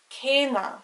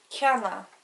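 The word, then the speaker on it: céanna: Or the word for same, C E Fada anna, cena. If it didn't have the Fada on the E, it would be cana.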